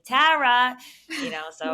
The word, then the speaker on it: Tara: worse it's really the way I say my name I think this is which is the dead giveaway I say Tara and nobody everyone's like is it Tara is it Tara and I'm like it's Tara you know I think